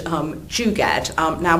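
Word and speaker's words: jugaad: Indian concept called um Jad um now whenever I I'm Jewish so whenever I heard the word oh JJ but actually it's not spelled like that it's j u g a a d Jad nothing to do with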